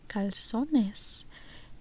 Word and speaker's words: calzones: Uh, yeah, calzones. So the thing about the thing about that word calzones it's a very nice word in English in Spanish we pronounce that caloness and it does not